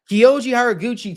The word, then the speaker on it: Horiguchi: We've got Kyoji Horiguchi taking on, yes, yeah, I pronounced the name right. Kyoji Horiguchi taking on Amir Albazi.